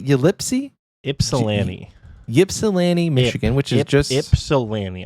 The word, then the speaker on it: Ypsilanti: a little wonky so even though there is a why it's not Ypsilanti it's Ypsilanti I'm pretty sure I